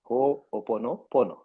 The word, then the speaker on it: Ho'oponopono: Yeah, it's you can break it into three parts, I would say. So Uh-huh. Ho'opono, and then Pono. Ho'opono Pono. So it's an Hawaiian word.